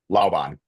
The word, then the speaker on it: Laon: How do you say your last name? Laon. Laon. Okay. Where where is that from? Oh, it's German.